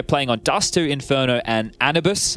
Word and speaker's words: Anubis: They're playing on Dust2, Inferno, and Anubis, I believe is the official pronunciation.